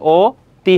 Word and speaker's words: অতি: অতি। তাহলে এখানে অ রয়েছে অ এর উচ্চারণটা কি হয়ে যাবে? ও হয়ে যাবে। তাহলে কি হবে? ও তি হবে।